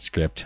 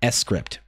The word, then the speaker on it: Scrypt: All right, uses the Scrypt, which, by the way, is the actual pronunciation. It's not... I mean, you can call it script. I'm not going to be all weird about it, but I think it's meant to be pronounced Scrypt.